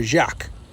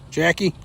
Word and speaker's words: Jacqui: Is it Jacqui? Is that Jacqui or Jacques? What reel am I using? We got the SLX MCL Shimano. Jackie. Jackie got it. I was trying to pronounce it all fancy.